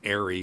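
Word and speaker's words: ARRI: and by the way it's pronounced aeroflex and arie it's not pronounced re as all these youtubers say but uh when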